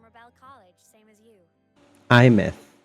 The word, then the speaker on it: Aemeath: IMth. That's how we pronounce the name.